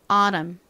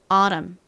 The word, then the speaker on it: autumn: 그리고 이렇게 M, N이 연달아 왔을 때에는 주로 N이 묵음이 된다고 말씀드렸습니다. 그래서 M의 미음만 이렇게 받침으로 들어가죠. 정자대로 발음하면 autumn인데요. 미국식으로 발음될 때는 살짝 발음이 좀 더 느끼하게 이 T를 리을처럼 발음한다고 말씀드렸습니다. 그래서 autumn, autumn 이렇게 주로 발음이 됩니다.